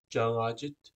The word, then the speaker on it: Cangacit: to PR be pronounced like the NG in the English word singer and not like the NG in the English word finger now this NG makes